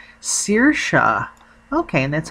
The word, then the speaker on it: Saoirse: name and she said it's an Irish name pronounced Saoirse okay and that's how you spell it it